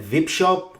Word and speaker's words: Vipshop: At number 8, we're going to look at Vipshop or VIP Shop, depending on which way you pronounce it. I've always pronounced it VIP Shop.